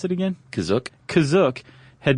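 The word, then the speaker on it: Kashyyyk: or Wiki Planet C is that how you say kazuk that's how it's pronounced in the episode the holiday special but it's also pronounced different ways other times to pronounce that cashier gotta spell it k-a-s-h-y-y-y-k yeah which I mean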